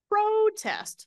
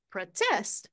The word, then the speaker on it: protest: those four words right number one we've got a protest syllable stress on the first one a protest I'm going to go to a protest on Saturday why am I going to go on Saturday verb to protest now the stress is on the second syllable to protest I'm going to protest I don't know the